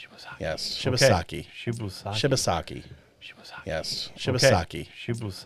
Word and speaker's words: Shibasaki: Shibusaki. Shibasaki. Yes. Okay. Shibasaki. Shibusaki.